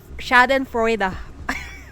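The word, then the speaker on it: Schadenfreude: new things every day Shaden frea Shaden frea damn that's how you pronounce it bro copy that sir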